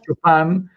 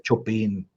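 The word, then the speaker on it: Chopin: pero está bueno porque Chopán es pronunciación francesa, pero en polaco es chopín con la Pero si lo hubiera dicho, sí, me hubieran tronado, eh, de todas formas.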